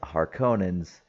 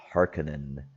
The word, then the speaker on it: Harkonnen: And then you see the Harkonnens. Uh, they pronounce it differently in this movie. It's like Harkonnen, something like that.